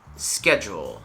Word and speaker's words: schedule: this next one is schedule so let's break it up scare that's easy and then jewel schedule schedule schedule you